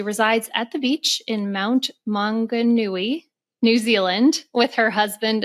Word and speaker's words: Mount Maunganui: And she resides at the beach in Mount Maunganui, New Zealand, with her husband and daughter.